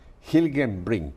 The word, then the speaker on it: Hilgenbrinck: no es latino Así que lo voy a pronunciar se llama Chase gilgame bring Así es salió bien a la primera Sí